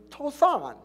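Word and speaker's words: צֹעַן: Field of Zoan. Now, the field of Zoan is pronounced in the Hebrew Tosan.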